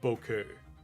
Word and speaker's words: Bucket: So, it's it's a running joke in the show that it's spelled bucket, but they pronounce it bouquet.